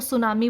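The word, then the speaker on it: tsunami: अगर हम बात करें, जैसे आपको सुनामी बोलना है तो सुनामी की स्पेलिंग टी से स्टार्ट होती है, तो साइलेंट लेटर है आपके पास टी, उसकी वजह से जो है वो स्पेलिंग्स की प्रॉब्लम्स हो सकती हैं।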